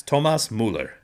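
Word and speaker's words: Thomas Müller: It's Tomas Müller.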